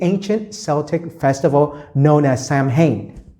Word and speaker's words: Samhain: ago to the ancient Celtic Festival known as Samhain right or it's pronounced Owen these Celtic people in modern-day Ireland Scotland around